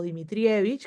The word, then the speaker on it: Dimitrijevich: Mi nombre es Dimitrijevich o Dimitrivich, que es como se pronunciaba este o como se pronuncia en el país de origen de mis antepasados, de una parte de mis antepasados.